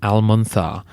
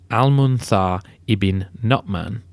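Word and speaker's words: al-Mundhir ibn al-Nu'man: Arabs under their Chief al-manar to raid Byzantine osini I should really say almuna ibin notman thanks to listener codadad for the pronunciation and do check the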